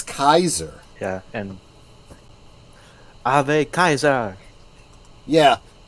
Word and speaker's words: Caesar: I mean it's like how many people say Caesar Caesar Caesar it's Kaiser yeah and a Kaiser